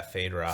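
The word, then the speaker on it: Feyd-Rautha: Fade Rotha. As in Fade like Rotha. Fade away. Yeah, Fade Rotha.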